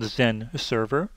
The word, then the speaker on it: XenServer: Now, all of their products that start with an X actually are pronounced with the letter Z in front.